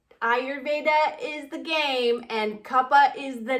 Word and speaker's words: Kapha: Like anytime we would talk about Kapha, which is the correct pronunciation, he would just like go on forever and just have this glow.